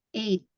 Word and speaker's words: eight: between jam 8 tadi itu bacanya eight ya gh-nya itu enggak disebutin eight and nine jadi